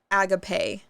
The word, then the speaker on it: agape: This one's spelled like agape, but it's pronounced agape.